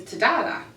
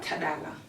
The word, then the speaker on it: Tadala: But you know, here I'll probably my name is Tadala because the da is harder for people to say. To pronounce. Pronounce it one more time. Tadala.